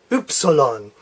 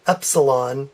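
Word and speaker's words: Ypsilon: fun to say is oops along so it sounds like oops like you dropped something and then you continue it with oops alone it's based on the Greek epsilon but it's pronounced epsilon Epsilon okay and the last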